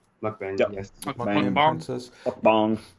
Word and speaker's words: Mukbang: Mukbang, Yep.